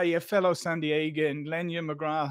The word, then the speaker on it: McGrath: fellow San Diegan, Lenya McGrath. How are you doing? Or McGrath, depending on how you want to pronounce it. As Lenya said, it's pronounced differently in our home country as it is here.